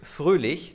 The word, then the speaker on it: Froehlich: I'd like to welcome Luc Froehlich. Did I pronounce that right? Perfectly, thank you. It's a German name, an Austrian name actually.